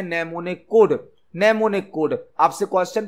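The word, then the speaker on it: mnemonic: उसे किया जाते हैं नमूने कोड नमूने कोड आपसे क्वेश्चन पूछा जा सकता है की नमूने कोड का उसे किस लैंग्वेज में किया जाता है यहां पर एम साइलेंट होता है नमो ने कोड का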